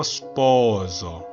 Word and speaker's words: sposo: sposo 할 때 O와 O 사이에 있는 S는 유성음 S입니다. 최대한 부드럽게 목을 울려서 내줘야 됩니다. 그냥 시읒이 아니고 마치 지읒으로 들리는 시읒 발음으로 해줘야겠죠. 대신 이걸 스포조라고 하시면 안 됩니다. 스포조는 다른 발음이에요. S 발음이 아니에요.